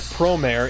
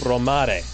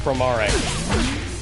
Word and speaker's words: Promare: See, now I have to correct the pronunciation, because it's not Promare, it's Promare.